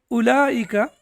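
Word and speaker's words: أولئك: Similarly, in ulaika, the wow is not pronounced.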